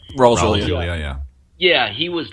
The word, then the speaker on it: Raul Julia: Raul Julia, am I pronouncing his name right? Raul Julia, yeah.